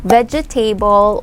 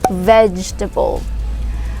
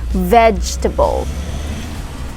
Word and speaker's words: vegetable: really commonly mispronounced i could either hear it pronounced as vegetable or vegetable or even vegetable but it is actually pronounced as vegetable vegetable yeah vegetable say it okay so of course